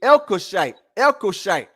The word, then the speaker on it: Elkoshite: And some pronounce it the Elkoshite.